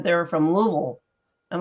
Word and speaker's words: Louisville: comment you have to that's a southern pronunciation you have to slur the words together so it's a Louisville go ahead um so